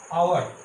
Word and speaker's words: hour: এরকম আরেকটা শব্দ তোমরা পেয়েছ, খেয়াল করে দেখো, এইচ দিয়েই আছে আওয়ার, HOUR, আওয়ার। এখানেও দেখো HOUR, আওয়ার মানে ঘন্টা। এখানেও কিন্তু আওয়ারের এইচ কিন্তু সাইলেন্ট, অর্থাৎ উচ্চ আছে। এইচ এর উচ্চারণ কিন্তু হয় না, OUR, আওয়ার দেখবে উচ্চারণ হয়।